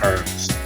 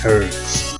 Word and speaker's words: herb: But one that I will never fall to is herbs. I will never say herb, I will say herbs because it's fucking H.